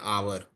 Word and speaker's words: hour: Again the word R we have discussed H is silent. So it will be we we waited for an hour.